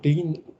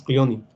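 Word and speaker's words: Klenin: Yo le digo Clenin, se escribe, pero dicen que es Clionen.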